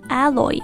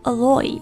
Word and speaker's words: Aloy: Next one, A-L-O-Y, 你可以读成 Alloy 或者 Alloy.